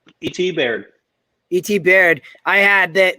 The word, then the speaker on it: Baird: Is it Baird or Bard or how do you pronounce his last name? E.T. Baird.